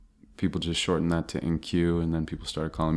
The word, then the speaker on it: IN-Q: Poems and Stories by NQ. If you're wondering how his name is spelled, it's IN-Q.